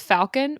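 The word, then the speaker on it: Falkan: Fun fact, his name is pronounced Falcon, but when he shifts into a falcon, they say Falcon.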